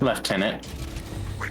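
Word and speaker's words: lieutenant: Left tenant. It's just cuz it's all it's a it's a British pronunciation.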